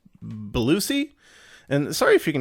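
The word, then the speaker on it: Bellucci: the language uh monica i think it's pronounced belusi and sorry if you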